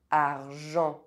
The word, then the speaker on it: argent: Otherwise, EN is pronounced en. Argent. Sentir. Gencive. Enfant.